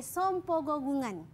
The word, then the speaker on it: sompogogungan: ini kita panggil sebagai sompogogungan. Cuba sebut. Sompogogungan. Sompogogungan. Yes, betul Eli. Tapi betul. The ejaan dia SEM, tapi sebut som ke sam? Som. Oh, som sebenarnya.